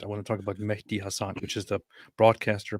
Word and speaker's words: Mehdi: It's Mehdi. You see the H there?